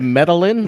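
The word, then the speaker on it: Medellín: Alex, you mispronounced that with the two L's. It's not Lynn. It's yeah, exactly. Correct. Have you ever been to Medellin?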